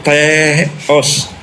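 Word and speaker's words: θεός: Pelafalannya gitu. Teos. Nah, gitu dia bacanya. Teos. Ada h-nya ada koma di atas.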